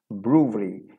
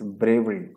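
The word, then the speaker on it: brewery: ब्रूवरी, इसे often mispronounce किया जाता है, that is ब्रेवरी। इट्स नॉट ब्रेवरी, इट्स ब्रूवरी।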